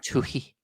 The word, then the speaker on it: Twohy: I never can pronounce his last name. David Twohy, Tui. Twelve. Tui. Yeah, Tui.